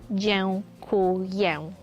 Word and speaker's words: dziękuję: The hardcore version is cześć, and thank you is dziękuję.